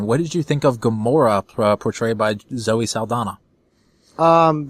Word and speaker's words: Gamora: not the same but it's not spelled the same but pronounced the same and uh the the